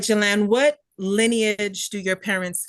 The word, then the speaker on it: Jalan: today is September 2nd 2024 and I'm interviewing Jalan Harris on Zoom please introduce yourself what is